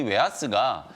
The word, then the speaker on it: 웨하스: 겹겹이 이제 쌓여 있는 그 부드러운 과자를 얘기하는 건데 실제로는 이 웨하스가 웨이퍼를 의미한다라는 속설이 있어요. 어. 이 웨이퍼를 이제 일본인들 발음으로 이제 웨하스 이렇게 부르다가 웨하스 그게 이제 과자 모양하고